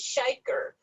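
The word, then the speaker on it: Shekhar: And something funny about his name, it is Shaker, but it is spelled like Shakar.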